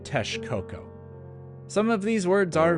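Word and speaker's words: Texcoco: and Aran Cortez also these words are not pronounced meika or Tex Coco but rather mesika and Tesh coko some of these words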